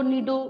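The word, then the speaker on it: Cnido: नीडो मतलब सी silent है यहाँ पे, जिसके वजह से हमने इस फाइलम का नाम रख दिया है।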